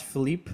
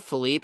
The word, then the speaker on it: Philippe: You know what's stupid about Josh Phipe? Philippy. Yeah. Is that they changed his pronunciation. Did they make it Phipe? It was Philippy when I was in Australia.